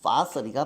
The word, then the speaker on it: fossil: 발음은 파서리가 맞지만 내 맘대로 포실이라고 읽어야 된다.